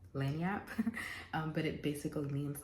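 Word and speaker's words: lagniappe: you're going to um another uh French Cajun word is going to be lanap it's spelled l a g i n a p p e lanap um but it basically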